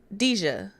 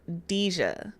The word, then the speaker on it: Deja: Wait, Deja. I'm saying it wrong. Deja, not Deja. Deja. My bad.